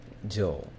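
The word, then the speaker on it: 上: The pronunciation for this is jo.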